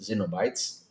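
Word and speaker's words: Cenobites: Pinhead and his cultist cronies, no, Pinhead and his Xenobites, that's the proper way to say it, want to know how you activated it and want to harness its power.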